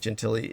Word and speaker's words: Gentile: It's an Italian name, Gentile or something like that. But that would normally be pronounced Gentile. But it's pronounced in such a way it's like Gentili.